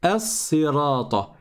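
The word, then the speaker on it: الصراط: Si on avait commencé par ce mot, on aurait dit as-sirata, as-sirata. Mais comme on est en plein milieu de la lecture, déjà, il saute, donc on ne le prononce pas.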